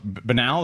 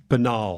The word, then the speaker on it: banal: It's Banel or Banal or Banel. How do you say it? Banal. Banal. Banal. I feel like it might if you go to good schools, it's banal.